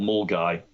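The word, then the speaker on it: Milngavie: glasgow a place called mull guy it's not how you spell it but it's how you pronounce it apparently um and that sort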